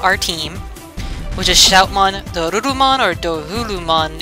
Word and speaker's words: Dorurumon: aren't familiar with it, doesn't have an R like we do. It has a Ru or a Lu, and it depends on what the enunciation of the name is on. So I tend to pronounce it Dorurumon.